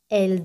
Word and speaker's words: elles: Ellas es él, ese al final no se pronuncia. Él en plural se pronuncia como se pronuncia él de tercera persona singular.